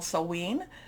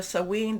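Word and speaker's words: Samhain: also in what's called sewen there's different pronunciations i think i'm doing the scottish pronunciation of this but we can you know you know there's different celtic celtic type of pronunciations so sewing this is what a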